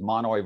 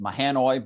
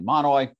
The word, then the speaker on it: Mahanoy: And then just from the Supreme Court's last term, there's Monoy versus BL. Looks like it's pronounced Mahanoy, but it's actually Monoy.